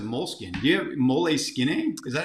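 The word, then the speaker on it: Moleskine: an Italian company and mo skin is how you pronounce it in Italian and there you go and Americans pronounce it moleskin so I by the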